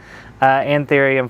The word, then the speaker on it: Anthurium: Anthurium 420.